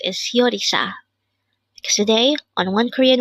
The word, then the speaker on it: 요리사: here at day hangle word number 337 yisa this pronounce is a three syllable word the first